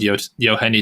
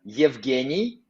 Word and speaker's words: Yevgeny: We need to train how to spell it correct. Yevgeny. Oh, Yevgeny Sakantsu. Yevgeny. It's like Chigashev. Yeah, Yevgeny. Because Belarusian guys, they write it a little bit different way.